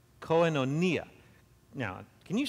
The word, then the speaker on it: koinonia: a greek word and you say it like this coinonia people put the the emphasis on different syllables but that's actually the appropriate way to say it koenonia now can you say